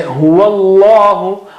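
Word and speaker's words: هُوَ اللَّهُ: But when you are joining them, you say huwallahu.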